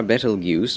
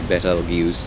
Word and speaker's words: Betelgeuse: That reminds me, we're losing the star Betelgeuse because it's going supernova.